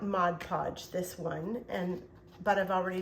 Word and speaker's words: Mod Podge: So I went ahead and prepared these ahead of time, and I also Mod Podged them.